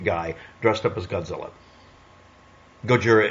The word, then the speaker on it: Gojira: Gojira is not me being a jerk about using the correct pronunciation. That's really what he's called.